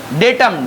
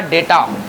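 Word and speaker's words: data: डेटम, डेटम का बनेगा डेटा, जिसको मतलब जानी हुई बातें, पूरा डेटा होता है। नहीं, इसको डेटा पढ़ते हो, डाटा नहीं पढ़ते हो, इसका प्रोनाउंसिएशन क्या होगा, डेटा कहेंगे, डाटा नहीं कहेंगे।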